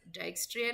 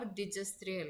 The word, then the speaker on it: Dijkstra: Again, I'm repeating, you can pronounce it as Dijkstra algorithm or Dijkstra algorithm, both are same only.